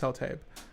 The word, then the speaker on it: Sultai: It's officially Sultai. Sultai? Pronounced Sultai. And, oh, sad.